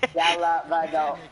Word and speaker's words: Dellavedova: How do you like freaking a guy with like freaking a four syllable last name score on you? Dellavedova. He has five.